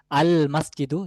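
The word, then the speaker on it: المسجد: সেক্ষেত্রে আমাদের বলতে হবে আল মসজিদু, যে মসজিদটি, তাহলে লামটা উচ্চারণে আসছে এখানেও।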